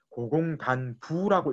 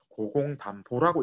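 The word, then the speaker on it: 고공단보: 실제로 부자를 붙였지만 예전부터이 사람의 원래 이름은 보라고 읽어야 된다 이렇게 전해 전해로 오는 그런게 있거든요 그래서이 사람을 우리가 읽을 때 고공단 부라고 읽으면 안 되고 고공단 보라고 읽어야 됩니다이 사람이 이제 추적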